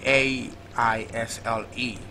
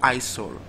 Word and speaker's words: aisle: It's not isol. So never you make that mistake. The word is pronounced aisle. Like the letter S is silent.